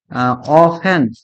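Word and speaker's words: often: इवर never ऑफेन ऑफेन नहीं पढ़ते इसको क्या पढ़ते हैं ऑफेन क्या पढ़ते हैं ऑफेन ऑफेन नहीं ऑफेन ऑफेन टी साइलेंट ठीक है ऑफेन क्या ऑफेन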